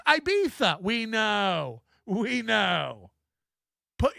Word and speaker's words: Ibiza: It's actually pronounced Ibiza.